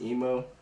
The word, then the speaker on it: Imoh: i pronounced my name it's spelled imoh and it's pronounced emo but um if you